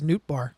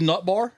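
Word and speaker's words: Nootbaar: Do you know how it's spelled? N O O T B A R R. Oh, it really is Nbar. Like I thought it was Nutbar at first and they're someone's like and they're like sick.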